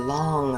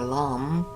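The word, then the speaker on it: लं: the consonant L, and we say it as either long or lam, and as such keep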